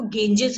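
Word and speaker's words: Ganges: का नाम है गेंजिस, ये बेटा प्रोनाउंसिएशन इस वर्ड की देखो, गेंजिस है.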